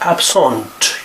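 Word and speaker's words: absente: at the end, and we pronounce it as absent. You pronounce the T as well.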